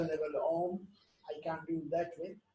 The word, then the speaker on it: Om: called Om, Ha, U, Ma, and it is pronounced like Om, and we say Om.